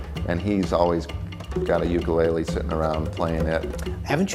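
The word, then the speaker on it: ʻukulele: Ukulele, but I know that that's not correct. The Hawaiian correct pronunciation is ukulele. Put a little apostrophe in front of the U for that sound.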